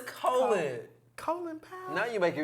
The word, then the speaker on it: Colin: Colin Powell died, y'all.